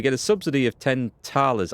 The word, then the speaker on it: thalers: So we get a subsidy of 10 thalers. I think it's pronounced thalers, not thalers, which is basically coinage or gold, currency, if you like, to you and me.